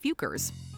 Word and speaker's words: Fuker: But in their defense, the questionable word is pronounced Fukers.